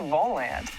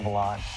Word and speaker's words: Volant: Lately, you might have seen one of these red stands around campus and wondered, hey, what's the Volant? Well, actually, it's pronounced the Volant.